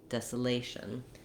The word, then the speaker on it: desolation: So that's where we have the A diphthong, lation, desolation. Again, we have secondary stress here, so we keep the same sounds for the desa part, but the A is going to change between desolate and desolation.